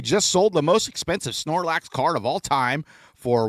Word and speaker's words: Snorlax: Did I pronounce that right? First off, Snorlax. Snorlax is right.